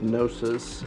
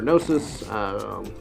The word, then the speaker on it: Gnosis: So Valerian has 3 shots with Gnosis, and not everybody's going to be able to see here. You know, Gnosis starts with a G. The G is silent.